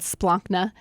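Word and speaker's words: splanchna: it means gut but it's called splonchna and no one can ever pronounce it right usually in your first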